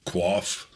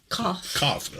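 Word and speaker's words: qoph: It's the Resh, Bet, Quaff. Kof.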